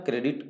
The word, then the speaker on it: corps: कोर का spelling लिखते हैं CORPS, बट पढ़ते हैं कोर, इसलिए ध्यान रहे सी वाले से, बाकी सभी गलत हो।